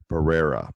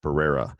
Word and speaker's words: Barrera: Barrera. Barrera. It's all that Yeah, I got to get those Rs going.